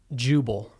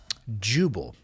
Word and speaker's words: Jubal: So Pretty close to gerbil.